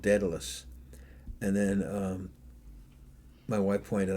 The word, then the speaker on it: Daedalus: Almost Daedalus, yes.